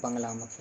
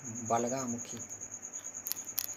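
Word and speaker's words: बगलामुखी: में अनेक तंत्रों में उनका जो नाम है वो बंगलामुखी नहीं बलगामुखी और मंत्रों में नाम में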